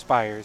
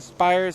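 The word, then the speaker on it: Spiers: It's pronounced Spires. So I think that... There we go. Okay. So Spires, remember, Tristan and Aiden Spires, S-P-I-E-R-S, is technically like an S-P-Y-E-R-S. So Spires.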